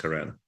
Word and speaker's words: Karen: point out that it is Karen and not Karen. It's been a bit of a struggle for me over the past couple of days, and just to lay a marker there that name is pronounced Karen.